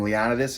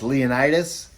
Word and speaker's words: Leonidas: So, Leonidas. Yes, I've been pronouncing his name wrong the whole time. I was calling him Leonidas. It's Leonidas.